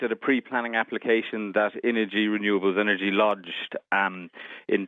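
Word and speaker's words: Innogy: and let's just remind our listeners the uh energy as it's as it's pronounced i n n o g y and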